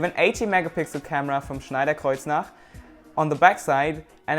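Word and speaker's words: Schneider Kreuznach: 18 megapixel camera from Schneider Kar on the back side and a 2 megapixel front-facing camera yes I said it right Schneider Kar it's German the 18 megapixel camera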